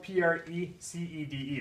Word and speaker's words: precede: So proceed, I mean, this one's a little bit more stress on the E there, precede, but proceed, proceed.